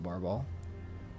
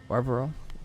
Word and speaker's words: Barbarol: Also, what's up Barbol? Or Barbarol? I've been saying your name wrong the entire time. Barbarol, welcome in.